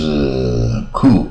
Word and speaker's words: coup: 那成功啊啊，成功就是 coup 啊，你看 P 也不发音，一般念 Cooper 嘛，啊 P 不发音 coup 啊，成功